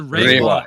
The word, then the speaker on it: Reiwa: R-E-I. EI is an A sound in Japanese. Yeah. It's the Reiwa era.